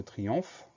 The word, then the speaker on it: triomphe: Et à la fin du mot, on entend le son F de triomphe. Ce son F, on va l'écrire PH. Donc, P-H-E pour la fin du mot. On fait attention au son ON qui s'écrit OM et à ce son F qui s'écrit PH.